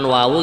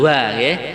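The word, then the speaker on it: وَ: perlu kita evaluasi pengucapan wawu kita ingat-ingat Waw fathah wa bukan wah Kemudian yang kedua kadang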